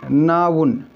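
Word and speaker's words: noun: नाउन, नॉन नहीं कहेंगे, नाउन।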